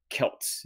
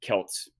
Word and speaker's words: Celts: Phonetically, by all rules, it should be pronounced S. But in the past 100 years or so, scholars, academic historians have decided it's probably more historically correct to call that European people's Celts instead of Celts. But it's still phonetically correct to say it with an S sound.